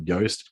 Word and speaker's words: Yoast: So Yoast is spelled like toast.